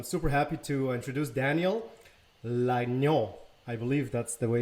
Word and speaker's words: Lagnaux: Daniel Lagnon, as you correctly pronounced it.